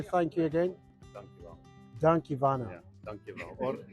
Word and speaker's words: dankjewel: Dankjewel.